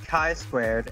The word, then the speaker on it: chi-squared: It's pronounced chi-squared, and that's not applicable to this.